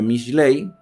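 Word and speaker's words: משלי: Hoy hemos llegado al final de el libro que dijimos desde el principio, que en hebreo se pronuncia Michley, Proverbios, que eh la traducción al español es algo así como instrucción, consejos, orientaciones o comparaciones.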